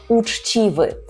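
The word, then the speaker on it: uczciwy: потренувати свою вимову Чому Тому що ми маємо звук твердий ч уч уч а одразу після нього іде чі чі так м'якеньке чі уч чів уччів уччів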